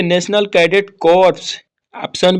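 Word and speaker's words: Corps: से कोई नहीं है राष्ट्रीय कडिट कोर लिखाता है अपना कॉर्प्स साइलेंट होता है ठीक और उसके बाद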